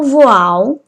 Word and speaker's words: voil: Um outro tecido que eu também vou utilizar é o voal. Se escreve voil, mas fala voal.